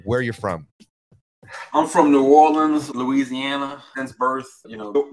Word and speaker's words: New Orleans: New Orleans. Right way to say New Orleans, just like that.